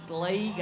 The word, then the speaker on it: Lego: Although I'm reminded that Australians call it Lego. Which is just that they really pronounce the E, Lego, and I can't get it out of my head.